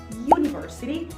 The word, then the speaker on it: university: com U, por exemplo, só que a pronúncia delas é you. Uniform, university. Então, para essas palavrinhas, considera que esse U sound é um som de Y e não um som de U.